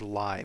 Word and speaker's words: Lie: to something called a Lie algebra. So, Lie algebra. By the way, this looks like the word lie, but it's pronounced Lie.